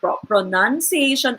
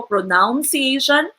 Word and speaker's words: pronunciation: buzu polyphony emphasized oh when you say Pro none pronunciation pronunciation and not pronounced eh on hindi po pronouncation but you say pronunciation pronunciation okay so what are you